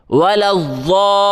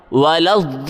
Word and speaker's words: الضالین: علیہم، غیر المغضوب علیہم ولا الضالین، زبان کی کروٹ بائیں یا دائیں طرف لگا کے پڑھیں، ولا الضالین، ہجے اس کا اس